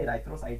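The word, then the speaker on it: erythrocyte: Number A है, यानी एरिथ्रोसाइट के नाम से इन्हें जाना जाता है। एराइथ्रोसाइट भी कुछ मतलब प्रोनाउंसिएशन में एराइथ्रोसाइट भी बोल सकते हो दोस्तों।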